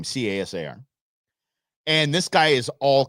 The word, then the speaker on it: Casar: I'm going to say Casar. That's how we pronounce his name. Casar.